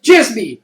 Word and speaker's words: Djismie: Djismie, D-J-I-S-M-I-E, and the D is silent.